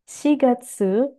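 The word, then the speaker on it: 四月: Oke, cara baca yang benar adalah Niseng, Nijugonen, Shigatsu, Mika.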